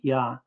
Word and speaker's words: Yah: The dot in the hay is a mapique which shows the hay as a consonant to be pronounced.